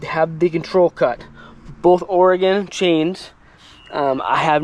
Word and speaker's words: Oregon: Oregon it the the this word here is pronounced Oregon not Oregon if you pronounce it Oregon you don't know